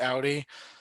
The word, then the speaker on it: Audi: __ ] trained at Audi it's Audi like it's cloudy okay like I swear